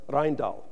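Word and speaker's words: Rijndael: And in late 2000, NIST announced the winner pronounced Rhindal.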